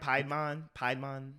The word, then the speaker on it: Piedmon: I didn't mind Piedmon, that's how you say her name.